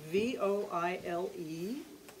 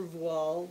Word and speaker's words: voile: This one, V-O-I-L-E, the French pronounce voile. If you go downtown and you ask for voile, they're going to say, I don't know. And so then you say boil, which is the American Midwestern pronunciation of voile.